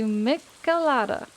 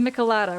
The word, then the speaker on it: michelada: They told me that it's called a malada. A malada. Am I pronouncing that right? Or is it Michelada? It's Michelada. Right.